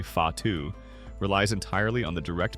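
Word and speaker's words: whatu: technique for cloak making watu pronounced roughly fatu relies entirely on the direct manipulation of threads by the weaver's fingers.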